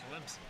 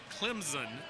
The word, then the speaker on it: Clemson: with an invisible P Clemson and you can tell if you're listening to sport casters if they say Clemson there is no Z in Clemson there is however an